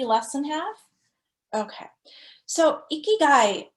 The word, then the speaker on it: ikigai: than half okay so ikigai and it's pronounced e key guy so i kind of